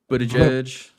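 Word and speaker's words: Buttigieg: Bo I'm gonna say his name right but Buddha judge Buddha judge of course has to turn everything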